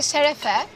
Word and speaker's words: şerefe: We say şerefe.